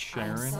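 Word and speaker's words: Charon: just call me Carol it's pronounced Sharon get it right but I have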